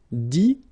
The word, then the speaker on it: dit: Dire, IRE as well, will give you dit, same thing here, IT, but then you pronounce it I, okay.